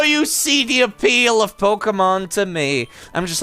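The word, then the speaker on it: Pokémon: Pokemon yeah it's uh the accent is uh to specify that it's not Pokemon it's Pokemon because of the way it's pronounced in Japanese honestly nobody types it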